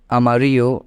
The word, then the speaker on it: amarillo: is when we're seeing whenever you see Double L together try to keep it silent while pronouncing it okay so yellow in English can be written as Amarillo in Spanish but pronounced as Amarillo in Spanish okay so